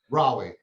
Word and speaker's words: Raleigh: problem so tell us i've never been to rally so and i'm probably even saying it wrong because that's usually what i do with cities i've never been to raleigh yes you got you have to the you're